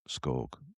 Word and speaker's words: Scog: Adidas originals that Ellie Scog rhymes with Vogue. So good. Uh where's I did I did Google how to pronounce Scog.